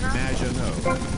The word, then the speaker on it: Maginot: However, you have mispronounced my name. It's Madge, badge, as in good, and no, as in more than you. Maginot.